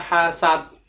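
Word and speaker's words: حَسَدَ: wanita yusari hasidin idza hasad Neira Hasan Khoirul dibaca Iraha saat itu salah kenapa salah karena itu huruf Dal berubah jadi ta ta eh salah yang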